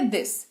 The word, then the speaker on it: this: तो इसकी अंग्रेजी होती है दिस, THIS, दिस इसको पढ़ते हैं। ठीक है, द का उच्चारण होता है TH होने की वजह से।